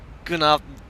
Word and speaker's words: Guten Abend: Guten Abend. I just say good Abend. Is that German? Good Avon. Oh my god. With a hard g.